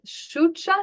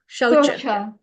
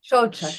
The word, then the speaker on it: Shaucha: Is this Shucha? Is that the correct pronunciation? Again? Yeah, Shaucha. Shocha, thank you.